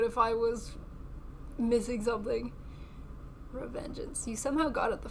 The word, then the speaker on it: Revengeance: Paint the blade red like Splitstream Sam's from MGR Revengeance. Oh, I butchered that one. No, that was perfect. I thought it was Revengeance, but I'm like, these letters aren't lettering.